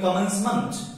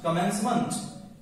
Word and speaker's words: commencement: यदि किसी भी शब्द के अंत में आता है, ध्यान रखिए उसका उच्चारण अंट होता है, इसलिए इसको बोलेंगे कमेंसमेंट, कमेंसमेंट।